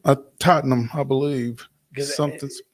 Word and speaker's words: Tottenham: stadium I can't pronounce Tottenham is it Tottenham uh Tottenham I believe something it's kind of like the you know the ham is not really ham and it's very confusing